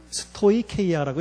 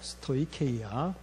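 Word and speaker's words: στοιχεῖα: 자, 스토이케이아라고 읽어요. 스토이케이아.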